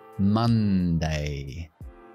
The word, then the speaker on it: Monday: la luna, de moon, pero no decimos moon, decimos ma, ma, Monday, Monday. Es una O, pero lo pronunciamos la A, el símbolo este que yo le llamo la tienda de campaña.